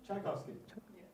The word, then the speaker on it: Czaykowski: Tchaikovsky? Tchaikovsky. Like the composer. Just like the composer. It's spelled completely differently.